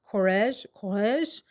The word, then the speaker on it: Courrèges: The brand, I believe, is pronounced Courrèges, and the fragrance is La Fille de l'air, which I think means the girl of the air.